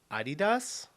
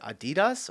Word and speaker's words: Adidas: Adidas.